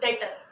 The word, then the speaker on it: debtor: ठीक है, इट्स डेटर। सो डेटर्स हमारे वो होते हैं, इट्स बी साइलेंट हेयर।